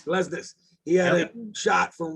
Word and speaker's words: Glesnes: The defender Glasnick. How do you say his name? Glesnes.